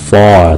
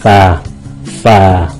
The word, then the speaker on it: for: Ví dụ cái chữ for, người Mỹ đọc là for, tại chữ R nó ảnh hưởng, nó kéo dài ra for. Người Anh họ không có quan trọng cái chữ R trong cái chữ for, họ phát âm là fa.